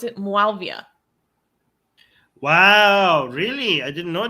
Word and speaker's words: Muawiyah: And basically, they compare the current regime and the supporters and the enforcers of this regime to how do you pronounce it? Muawiyah.